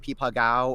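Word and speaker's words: 枇杷膏: I think it's actually pronounced like Pipa Gao or something like that.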